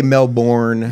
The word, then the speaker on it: Melbourne: That's Americans really struggle with Melbourne. We say Melbourne.